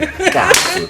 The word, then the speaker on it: Nkantsu: Nkantsu. There's a tone about There's a tone it, you and know.